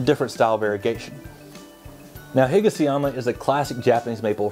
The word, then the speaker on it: Higasayama: It's been known under the name Higasayama and Hikasayama. Basically, there are two ways of pronouncing the same cultivar.